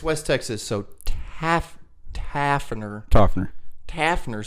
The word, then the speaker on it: Tauferner: Could you just, what is it? Tauferner. Like toffee. Yeah. But it's West Texas, so Tauferner.